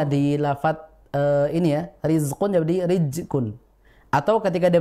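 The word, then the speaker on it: رزق: yang sering terjadi adalah huruf Zai sukun itu terbaca Sin ya harusnya Riz terbaca rizqu banyak yang seperti itu jadi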